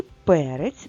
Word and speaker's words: перець: слові читаємо наступне слово перець і наголос на першому складі тож і перець Ми також запишемо в